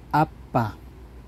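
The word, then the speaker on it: 아빠: Mother Okay next so mapapansin niyo dito letter B siya pero may bigkas siya na hindi letter B parang pa parang p okay kung babasahin niyo akala niyo Aba no so ang tawag po diyan ang basa po niyan Ay apa app so ganito po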